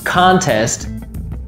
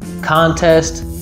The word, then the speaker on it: contest: So for example, the word contest as a noun has a first syllable stress, and as a verb has a second syllable stress. Contest, contest, contest.